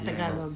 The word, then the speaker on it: Tagalog: So we just gotta become all fluent in Tagalog. Is that how you say it? Yeah, Tagalog.